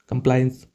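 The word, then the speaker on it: compliance: फिर कंप्लायंस किसी चीज़ को कंप्लायंस करना। मैं उच्चारण इसलिए बता रहा हूं कि आपको कंफ्यूज ना हो।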